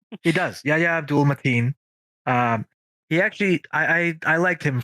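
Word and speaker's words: Yahya Abdul-Mateen: How did you pronounce his name? Yahya? His name is Yahya Abdul Mateen II.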